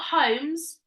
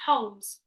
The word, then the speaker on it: Holmes: it's a silent yeah it's a silent ear that's not homes it's Holmes it's a silent ELD isn't